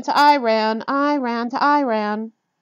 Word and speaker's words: Iran: be funny by chanting I ran to Iran Ian to Iran the correct pronunciation I always inform them is Iran I ran is a sentence I told them as